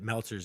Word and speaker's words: Meltzer: about the fact that meltzer's name rhymes with seltzer you know like your